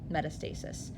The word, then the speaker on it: metastasis: Metastasis.